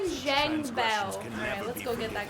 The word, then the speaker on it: Zhang Bao: Zhang Bao.